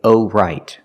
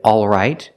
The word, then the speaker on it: all right: have um o right I cannot say oh right oh right the word has two pronunciations some people say all right and they pronounce the L all right the first vowel is the sound a a like in words call and ball the sound is back here a all right some people don't pronounce the L but they keep the same vowel a not o but a if we eliminate the